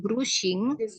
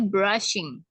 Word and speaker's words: brushing: Terus ya, di sini tuh bukan brushing, tapi brushing. Brushing. Ya, karena U umumnya itu dibaca A ya dalam bahasa Inggris.